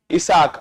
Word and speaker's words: Isaaq: Isaaq, I-S-A-A-Q.